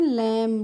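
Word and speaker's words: lamb: चढ़ना नेक्स्ट है हमारा एल ए एम बी तो इसको हम क्या पढ़ते हैं इसको हम पढ़ते हैं लम लैम नहीं पढ़ते हैं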